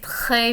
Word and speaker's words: très: And notice the pronunciation of the R in très. It's kind of like having something in the back of your throat, almost like gargling, like je vais très bien, merci.